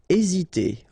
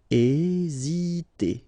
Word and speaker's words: hésiter: Hésiter. Okay, remember that H doesn't exist, so we don't pronounce it, and the first thing you will pronounce is this vowel here, E accent aigu, E. Hésiter.